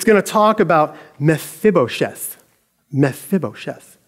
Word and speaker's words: Mephibosheth: later so it's going to talk about mephibosheth mephibosheth it's fun to say say it with me